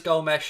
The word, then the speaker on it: Gomes: you with us yeah i think he is go mesh as well neil but i'm going to call him gomez i mean i'm i'm not going to go with the full pronunciations buddy because we all know my pronunciations are shocking anyway but you're right i think you are right it is gomesh but i'll call him